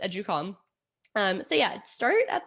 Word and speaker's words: Educalme: me at the end um but yeah it's pronounced educalm um so yeah start at the website um